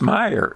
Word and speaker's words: Mayer: Yeah, so but even so, my great-grandfather or something came from Germany, and it was spelled M-A-Y-E-R, but pronounced Meyer.